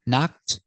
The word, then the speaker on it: knocked: first K is silent so we start with the n Sound knock the Ed D makes a t sound together knocked unconscious so let's practice